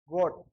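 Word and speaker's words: Gott: जैसे जी को पढ़ते हैं ग, ओ को पढ़ते हैं ओ, गो, और डबल टी को पढ़ते हैं ट, गोट।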